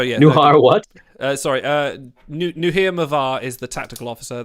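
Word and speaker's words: Nuhir: i came up with that's brilliant hello i'm new here it's spelt n-u-h-i-r new here uh yeah just so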